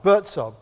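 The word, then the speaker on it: Buurtzorg: Bertzog, make a note of it. Today's learning, write this down, I'll spell it for you.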